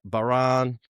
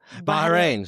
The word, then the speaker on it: Bahrain: And so those countries comprises Bahan, Kuwait, Omen, I Saudi Arab. Bahrain. So Bahrain. Sorry. That sounds a lot better than the way I said it.